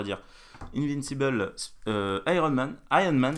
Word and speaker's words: Iron Man: Iron Man d'ailleurs. Oui, parce qu'en VO, le R il se prononce pas tellement en fait.